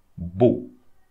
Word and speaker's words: beau: So AU, AUX, and EAU, or also EAUX, will be pronounced the same way. O. Beau. That's it. So don't pronounce the X also at the end here.